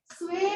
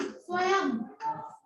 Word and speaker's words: स्वयं: स्वे नहीं, स्वयं। अगर स्वे बोलते हो ना तो ये स्पेलिंग है स्वे, ये गलत है, ये स्वयं। स्व, या के ऊपर बिंदी जो है वो म के साउंड देती है, संस्कृत का शब्द है स्वयं, ठीक है।